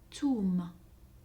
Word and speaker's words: ثوم: ث, ثوم, ثوم. Alors j'ai mis cette lettre en vert pour signifier qu'à Oran, on ne la prononce pas. À Oran, on prononcerait plutôt toum, toum.